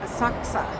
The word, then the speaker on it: Asakusa: we get there okay it's actually called aaka who knew so here